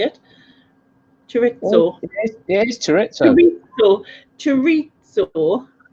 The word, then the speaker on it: chorizo: How do you even pronounce that? Is it chorizo?